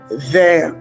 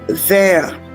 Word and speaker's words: there: I explicitly stated that this is a TH sound and it's called the voiced TH sound, while the other sound